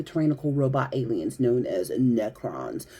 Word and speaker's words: Necrons: robot aliens known as Necrons. Some people say Necrons, depends on where you're on the planet. Both pronunciations are acceptable here.